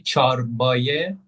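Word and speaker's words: چرپاية: So it's a chorbaya, like it's the main word. yeah. But So pardon me, you don't pronounce the P, but you pronounce the ç, yeah? You say çarpaya.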